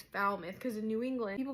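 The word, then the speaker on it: Falmouth: I first saw that I was like oh foul mouth I was calling it foul mouth it's foul myth cuz in New England people pronounce things weird and that's a fun fact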